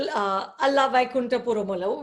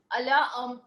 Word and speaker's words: Ala Vaikunthapurramuloo: Like, for example, Ala Vaikunthapurramuloo, which is massive blockbuster. Well done. You pronounced this so well.